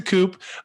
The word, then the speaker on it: coupe: got a coupe uh a coupe is the proper glassware to be confused with a forceful takeover of the united states government no it's gonna say kevin you're pronouncing that wrong i guess that would be appropriate to just call it a coup and said but uh no it's a coupe um i get for